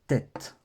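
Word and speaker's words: טית: ça et c'est le tête le tête ça c'est le tête comme ici en caractères d'imprimerie voilà le tête il fait tout simplement le son t voilà le son t tout simplement il n'y a rien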